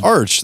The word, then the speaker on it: Archspire: it was Arc, but it is me Arch. Too. It I've is heard Arch. Them, all the members that. Themselves have said it's spelled like Arch.